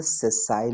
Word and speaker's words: sessile: और जिसमें नहीं होता है, जिसमें पेडिसिल नहीं होता है, उसको बोलते हैं सेसाइल leaf. सेसाइल, SESSILE, सेसाइल leaf. Now it's clear, से यस और नो? चलो स्पेलिंग, SESSILE, सेसाइल।